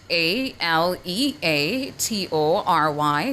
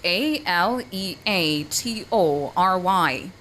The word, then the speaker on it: aleatory: And your word of the day is spelled a l e a t o r y, spelled a l e a t o r y. aleatory aleatory aleatory Aleatory is your word of the day.